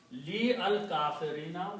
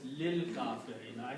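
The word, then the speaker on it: لِلْكَافِرِينَ: So you do in tajweed, li al-kafirina will be pronounced as lil kafirina, and that's the reason this lam is going to combine with this lam.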